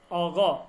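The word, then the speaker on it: آقا: না না, কফ না, এটা অনেকটা আপনার এই গফের উচ্চারণ হবে, গফের নিচে ব, ঠিক আছে, অগ, অগ, কিউ আছে না, কিউ, কিউ, জি জি। কিউ, অগ, এরকম উচ্চারণ হবে।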